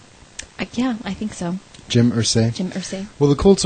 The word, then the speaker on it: Irsay: Irsay? Yeah, I think so. Jim Irsay?